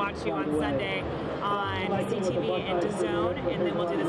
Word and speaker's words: DAZN: DAZN. Because you guys spell it so weird, right? It's like DAZN. D-A-Z-N, but it's DAZN.